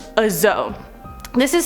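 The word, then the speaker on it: dzo: On to number 4, a Zo. This is spelled D-Z-O or D-Z-O.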